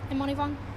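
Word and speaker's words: Immanivong: is and what's your last name Amon vong how do you spell that uh i m m a n i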